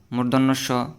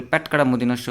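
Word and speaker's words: মূর্ধন্য ষ: মদিনাস মর্ধন্যস অনেকে বলে প্যাটকাটা মদিনাস যেমন এখানে একটা কি এটার মধ্যে একটা কি দাগ টানা আছে এজন্য অনেকে বলে যে প্যাটকাটা মদিনাস এগুলো হচ্ছে কি ভুল এটার সঠিক উচ্চারণ হবে যে মূর্ধন্য স মূর্ধন্য স দন্ত স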